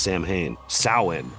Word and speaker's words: Samhain: traditions with those of, I hate that it's not pronounced Samhain, which is spelled exactly like if I were to say Sam, if I had a friend named Sam Haines.